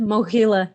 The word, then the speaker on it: Mohyla: I don't know how to say it, Mohyla Academy. Mohila, yeah.